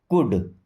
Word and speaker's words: could: कुड, L silent.